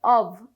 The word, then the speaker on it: of: যখন আমাদের একটা এফ থাকবে তখনই এফটার উচ্চারণ হয়ে থাকে মূলত ভি এর মত। যার কারণে আমাদের উচ্চারণ করতে হবে অভ এই হিসেবে।